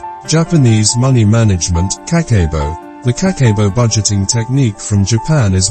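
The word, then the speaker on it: kakeibo: japanese money management kakebo the kakebo budgeting technique from japan is well known and popular worldwide the japanese word kakebo pronounced kakebo means home financial ledger kani matako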